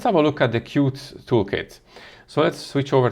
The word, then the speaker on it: Qt: a look at the cute toolkit so let's switch over to the tab here and as you can see here qt or pronounced qt is a widget toolkit